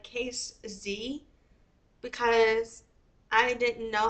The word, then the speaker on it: Casze: Z and so I've been saying it like cuse Z ever since kind of but if you see